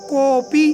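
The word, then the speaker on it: कोऽपि: जी हाँ दोस्तों, इसको उच्चारण करने में आधा है तो इसको साइलेंट की तरह ही रहने देते हैं। कोपी, कोई भी, कोड भी जो बोलते हैं दोस्तों, कई बच्चे बोलते हैं तो वो अशुद्ध है, आप इस चीज़ को शुद्ध करें।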